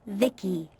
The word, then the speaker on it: Vici: transistors by the way i'm vici pronounced vicky my creator was vivisecto